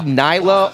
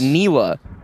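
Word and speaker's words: Nilah: unit is broken also can we start saying Nila purely because if we say Nyla on the main broadcast then we get scolded afterwards we're saying the champion name wrong so if you guys keep saying Nyla then I'll keep getting it wrong it's niwa which sounds worse than Nyla but it is what it is wait is it actually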